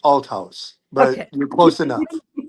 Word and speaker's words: Althaus: Please welcome Atlas. Hi. You were close with the last name. It's pronounced Al House, but you're close enough.